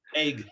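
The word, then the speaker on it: Eigg: Bob Giles is asking, have you photographed on the Isle of Egg? Isle E-I-G? of Egg. Egg. Egg. E-I-G-G. Is that how it's spelled? E-I-G-G. Yes, that's what he's spelling.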